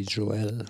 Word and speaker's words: Joel: Billy Joel, glaube ich, heißt er. Joel? Ja, ich meine, der wird sich so ein bisschen, der ist die Betonung, glaube ich, eher auf dem E.